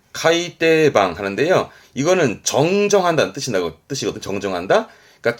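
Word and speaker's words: 改訂版: 묶음은 어떨까 싶은데요 하나 더 있어요 요것도 정입니다 발음은 카이떼방 하는데요 이거는 정정한다는 뜻입니다 그러니까 책이 오류 발생으로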